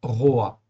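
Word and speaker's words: רֹעַ: C'est un Olam et puis en fait, ici, un patar. Donc, résultat des courses, ça se prononce Roa.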